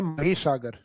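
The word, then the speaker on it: महीसागर: उसके नाम से है मही सागर। हालांकि इंग्लिश टाइटल तो वो माही लगता है अपने को, क्योंकि स्पेलिंग वही है माही, लेकिन उसका हिंदी प्रोनाउंसिएशन लिया गया मही सागर।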